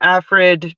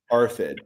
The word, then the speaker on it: ARFID: And I'm wondering what you know about stunted growth and things of that nature with the AFRID diagnosis.